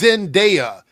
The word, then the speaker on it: Zendaya: I don't know if it's like if it's some kind of shade you're throwing at her or whatever, but it's Zendaya. It's pronounced as it's spelled.